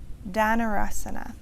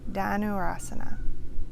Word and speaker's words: Dhanurasana: Dhanurasana. Janu, a bow. Dhanurasana.